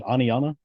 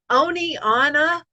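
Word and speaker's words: Oneonta: about something happening and they'll say oni anna or one aunt i've heard that a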